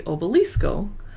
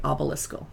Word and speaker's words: Obelisco: Now, here's one that I say probably incorrectly because I say it the Spanish way, obelisco, but at the tasting room they say obelisco.